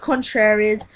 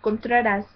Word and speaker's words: Contas: is I'm like contas they're like contraries I'm like that's not how you say it like this girl said contr is I'm like it's not contras it's contas and you know I was